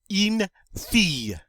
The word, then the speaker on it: une fille: Une fille. Une fille. Remember that double L in this word is pronounced like a Y. So we come up with une fille, which means girl.